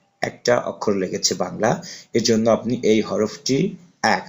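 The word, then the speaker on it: باء: তারপর হচ্ছে বা, এই হরফটি উচ্চারণ হবে আপনার দুই ঠোঁটে উচ্চারণ করতে হবে।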